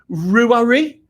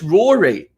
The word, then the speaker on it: Rory: you say your name is it roowery oh it's rory oh really rory rory